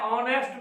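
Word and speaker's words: honest: जैसे होता है ऑनेस्ट में उच्चारण करते हैं ऑनेस्ट, लिखते हैं हॉनेस्ट, नहीं, एच वहां पर साइलेंट है।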